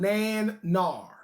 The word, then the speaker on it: Nanar: And it sounds just like it's spelled, Nan-nar.